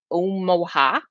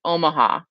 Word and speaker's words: Omaha: with you guys i just came back from omoha omaha uh i know that's not how you say it omaha um which is in nebraska uh and i